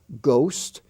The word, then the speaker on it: ghost: the honor roll h-o-n-o-r honest h-o-n-e-s-t the H is silent there ghost g-h-o-s-t ghastly g-h-a-s-t-l-y rhyme r h y m